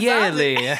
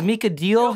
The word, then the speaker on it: D'Aley: D'Aley is like, it's kind of like Italian, like D'Aley. Like, that's why I always tell people. Because, but if you look at it, it looks like it's spelled deal. And so, like, all my life, it's like, is Mika Deal here? And I'm like, D'Aley, like next day, Mika.